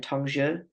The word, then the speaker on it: Tongzhi: And so it makes sense that when we get into, remind me how to pronounce it again, Tongzhi.